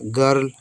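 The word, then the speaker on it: girl: ग आर से रा र एल से ला गर्ल गर्ल का मतलब क्या होता है हम सभी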